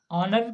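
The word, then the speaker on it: honour: एन ऑनर, ऑनर का जो पहला लेटर है वो एच है, जो कि कॉन्सोनेंट है, पर इसका जो प्रोनाउंसिएशन होता है वो अ से शुरू होता है, इसलिए इसके पहले एन का प्रयोग किया जाता है।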